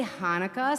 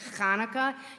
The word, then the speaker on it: Chanukah: Now, sometimes we say Hanukkah, sometimes we say Chanukah.